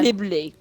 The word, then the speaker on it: Ghibli: Ghibli. A few years ago, we were talking about that car, and you can't spell it.